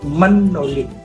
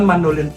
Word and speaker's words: mandolin: Kalau kita dibilang, kalau tulisnya A mandolin tapi baca bahasa Baliknya mendolin, bukan mandolin, mendolin gitu.